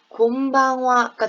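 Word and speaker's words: こんばんは: 그래서 콤방화 저녁 인사말의 정확한 발음은 곰방화가 됩니다. 곰방화. 그래서 같은 응과 응이지만 여기에 받침이 오는 게 달라지고요. 그리고 이 마지막에 있는 요 녀석 있죠? 글씨는 하지만 지금 와로 발음했죠?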